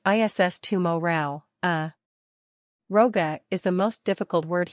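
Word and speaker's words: rogha: pronounced ISS tumorale uh Roga is the most difficult word here the first syllable rhymes with plow not blow the GH combination makes a w sound as in wet note also that is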